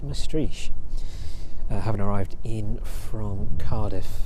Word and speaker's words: Maastricht: That one leaving East Midlands Airport yesterday evening on its first flight from East Midlands over to, I think it's pronounced Maastricht.